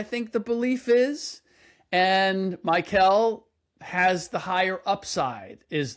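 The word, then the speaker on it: Mikel: Now what is it? It's Michael. It's not like Mikal Bridges. It's Michael. Michael.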